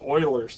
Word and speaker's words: Euler: there's a equation called Euler's here does not look like oily but that's actually someone's last name Euler and that's how it's